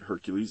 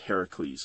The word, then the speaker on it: Heracles: A lot of people pronounce it Hercules, it's actually pronounced Heracles.